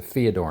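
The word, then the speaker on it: fiador: Uh, for those who don't know what aodor knot is, it's spelled with f, not th. It sounds like th when you say it, but it's a theodore knot.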